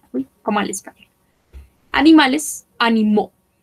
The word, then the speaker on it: animaux: Animales, animaux. Esto se pronuncia como una O.